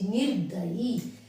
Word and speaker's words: निर्दयी: जैसे निर्दयी, निर नी के बाद आया है और द की पहले इसका रे का उच्चारण आया है, तो हमारा शब्द निर्दयी ठीक होएगा।